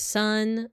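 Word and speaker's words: 三: So then 2 is always pronounced as ni, 3 is always pronounced as san.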